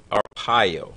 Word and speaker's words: Arpaio: Joe Arpaio. I think that's how Yeah. it's pronounced.